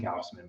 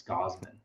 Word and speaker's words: Gausman: I keep on saying Gausman, but it's Gausman, right? Yeah, I just like really pronouncing that U.